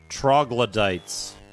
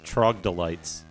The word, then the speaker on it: Troglodytes: Shriekers, Spitting Crawlers, Sturges, The Road to Sturges, Troglodytes. When I was a kid, I had a problem reading certain words because I would get some of the syllables confused, and I used to call these Trogdolites.